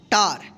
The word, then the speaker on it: tar: आ उच्चारण नियम का, कि जब किसी वर्ड में ए के बाद यानी लास्ट में ए के बाद अंत में आर रहे तो इस ए का क्या उच्चारण करेंगे, आ उच्चारण करेंगे, ठीक है।